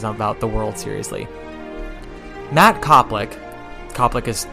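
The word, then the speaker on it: Koplick: Matt Copick. Copic is not spelled the usual way. It's spelled K O P L I C K, but it's okay.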